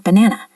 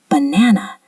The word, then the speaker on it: banana: Listen to the word banana. Can you hear which syllable is stressed? Banana. The middle syllable is stressed. If you stress the wrong syllable, like banana or banana, it sounds very strange to native speakers.